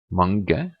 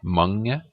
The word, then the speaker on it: mange: In Norwegian words is mange or lang. Notice how the G, it's not mange, it's not mange, it's mange, lang.